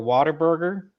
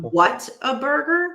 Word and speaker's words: Whataburger: Corey was an advocate now for Whataburger. Is the best thing he's ever had. Whataburger? You mean what a burger? It's Whataburger. That's how you say it.